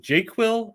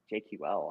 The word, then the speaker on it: JQL: pronounce Jer query language is it J quill or jql jql I've never heard anybody say jqu where how it's a